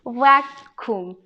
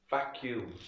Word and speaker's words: vacuum: right vacuum you see vacuum vacuum like a queue instead of a c vacuum yeah instead of the c pronounce it q yeah welcome cleaner yeah